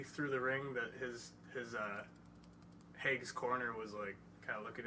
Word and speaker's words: Hague: It's Tim Hague. Hague.